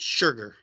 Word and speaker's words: Schruger: This is and and Schruger. I think he says pronounces it sugar.